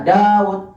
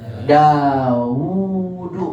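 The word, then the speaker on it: Dāwūdu: Makanya ketika antum dapatkan nama Daud, antum enggak boleh baca Daud. Salah. Tapi bacanya gimana? Daudu walaupun enggak ditulis wau.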